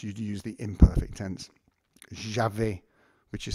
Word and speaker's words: j'avais: Although a lot of times in French you'd use the imperfect tense, j'avais, which is spelled A-V-A-I-S, j'avais, but it might come up, j'ai eu, and the future stem is a little bit awkward as well.